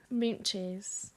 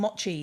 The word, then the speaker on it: mochi: Mint cheese. Is that how you say it? Mint cheese? I call them mochis. Oh, mochi.